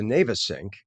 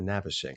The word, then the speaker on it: Navesink: fireworks on the Now, we can pronounce this two ways. I believe the formal way is the Navesink, but I think a lot of people call it the Navesink.